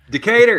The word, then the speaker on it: Decatur: Decatur, you got Georgia.